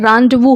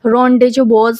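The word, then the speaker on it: rendezvous: Correctly spelled है, तो यहाँ पर इसका जो प्रोनाउंसिएशन होता है रांडवू होता है। क्या होता है, रांडवू इसको पढ़ते हैं, रोंडेजो बोज नहीं पढ़ते हैं इसको।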